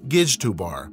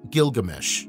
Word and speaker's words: Gilgamesh: His name, for a time provisionally read Gijdubar or Izdubar, but now known to have been pronounced Gilgamesh, suggests that he was